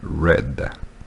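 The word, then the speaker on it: read: erreurs oued el oued rappelez-vous la prononciation du participe passé de weeds ça change ça devient raide comme la couleur ça se prononce comme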